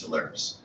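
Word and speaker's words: Telarus: vice president of corporate marketing for its hilarious pronounced talaris and my goal really is to help with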